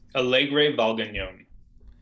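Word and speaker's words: Alegre Valgañón: about this category um john how do we pronounce the brand alegre valdenon cool i'm going to go into our powerpoint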